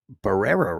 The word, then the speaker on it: Barrera: He only was charged with it's pronounced bear. Barrera, right? I know you got to roll your tongue, but I'm terrible at that. Barara or something like that.